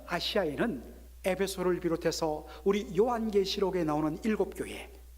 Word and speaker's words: 에베소: 에베소에 와서 말씀을 전했다 했습니다. 이 에베소, 에페수스라고 그렇게 발음을 하는데, 여러분들 지금 오늘날의 터키 땅이 나옵니다.